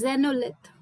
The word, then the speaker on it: xenolith: like earth and xenolith when you pronounce the word xenolith i had to actually look at the screen and search for the word which you were trying to use so it is zenolith what i felt is